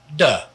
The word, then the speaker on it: de: also means the and we have another word that means the this is pronounced duh now you can't